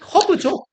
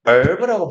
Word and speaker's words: herb: 그냥 생각나게 말씀드렸고 얘는 허브죠. 근데 그거 아세요? 허브라는 발음의 콩글리시 있고 영어권 화자들은 herb라고 불러요. H가 묵음입니다. 신기하죠? 신기하죠? 허브가 아니라 herb예요. herb.